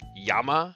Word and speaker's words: llama: In Spanish, two L's is pronounced as the Y. So, like, our word for flame is llama. It's L-L-A-M-A.